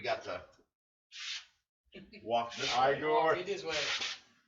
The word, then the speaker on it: Igor: Igor. It is way. It's pronounced Igor.